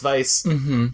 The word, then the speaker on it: Weisz: I'm terrible pronouncing things I have it in my brain that it's wise just because it's a w I know it's Vice heads up apology I